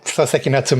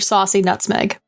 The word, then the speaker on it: Soseki Natsume: Yeah, it's a telegram from Soseki Natsume himself, and he wants us to come over quickly. Or as the Bobby pronounces it, Mr. Saucy Nutmeg.